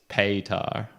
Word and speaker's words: Petar: You know, we're saying his name wrong, totally wrong as well. I heard Adam Curry pronounce it, and it was Petar. Oh, really? That's how he was saying it. So Petar. So that's probably how it should be.